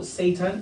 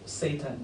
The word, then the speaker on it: seitan: It's called seitan, not Satan. Yeah, please. Yeah, but No, it's pronounced that way.